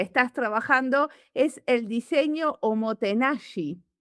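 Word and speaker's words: おもてなし: Y otro de los conceptos que estás trabajando es el diseño homotenashi. Seguro que lo pronuncio mal. No, no, no está muy bien Omotenashi.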